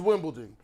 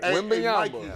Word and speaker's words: Wembanyama: His name is Wimbledon. Victor Wimbledon, if he like... Hey, put it back up. It's exactly how it's spelled. I don't know. Victor Wembanyama. Y'all got Wembanyama. I'm saying it right. Wembanyama.